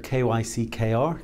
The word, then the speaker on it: Kyckr: So Kyckr, K-Y-C-K-R, Kyckr as we pronounce it, has a globally unique set of capabilities where it provides automated KYC for businesses.